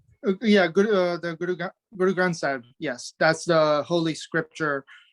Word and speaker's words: Guru Granth Sahib: Guru Granth Sahib is the scripture. Guru Granth Sahib.